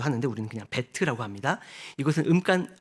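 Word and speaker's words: בית: 그런 뜻을 어 가지고 있습니다 두 번째는 배트입니다 베트 뭐 베이트 발음도 하는데 우리는 그냥 베트라 합니다 이것은 음간 어 음가는 비급이 예 그리고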